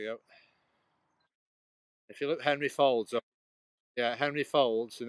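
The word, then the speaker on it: Faulds: he's the one who first noted that we all had fingerprints that were different hey Henry fold yeah it's spelled f-a-u-l-d-s but it's like Folds it's a bit like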